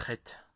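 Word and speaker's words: חטא: Le mot hébraïque chet, péché, se compose en réalité de 3 lettres. Or, 2 seulement sont prononcées. La dernière est muette, c'est la lettre Aleph, qui symbolise l'unicité, l'éternel.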